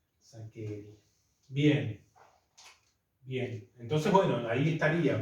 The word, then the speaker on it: Saccheri: Bueno, no, nombres italianos. Saccheri. Eso sí me acuerdo. Se escribe Che, se pronuncia que. Saccheri.